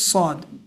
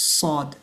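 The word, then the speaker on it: صاد: but it's heavy and the name of the letter is sad. When we put vowels it becomes su right saw su and make sure not to pronounce it as swad and do not put a w sound to it as many people do that's not the correct way to say it's sad.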